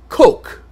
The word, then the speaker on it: Coq: starting his own magazine called coke coq french for chick knowing full well that most people would not pronounce it like coke this was supposed to